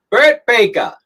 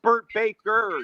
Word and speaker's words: Bert Baker: you and so david say my name burt baker brett baker that's bert baker not fake no you don't have an eye here yeah i don't have an r it's great because most